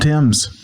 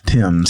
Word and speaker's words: Thames: Tims, not Fames. Tims spelled Fames pronounced Tims.